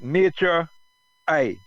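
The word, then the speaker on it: NATURE-I: You could pronounce it Nature I.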